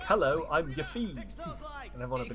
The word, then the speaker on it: Yuffie: Keep these You pronounce it grappling Yuff guns as in close. tough. Okay, so Yuffie.